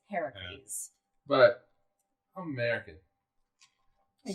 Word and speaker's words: Heracles: Now, I guess the correct pronunciation would be Heracles because his mother's Hera. If it's Greek, Greek is Heracles.